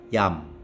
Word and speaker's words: iam: tekanan dalam membacanya lalu huruf i di k diikuti oleh vokal dan tidak mendapatkan tekanan maka diucapkan seperti y dalam kata ayam Hai misalnya Iam dibaca yam bukan Iam tapi dibaca Iam Selain itu diucapkan seperti